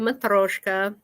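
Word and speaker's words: matryoshka: needed to do the russian nesting doll the mathroshka and that is in cyrillic there at the bottom and that's how you say it yeah so the e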